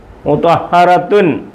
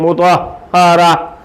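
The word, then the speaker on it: مطهرة: മു ത്വാ ഹറ മു ത്വാ ഹറ മുതഹറത്തുൻ അങ്ങനെ പറയത്തില്ല. മുതഹറത്തുൻ ഉണ്ട്, അങ്ങനെ പറയത്തില്ല, പിന്നെ എങ്ങനെ പറയും? മുതഹറ മുതഹറ.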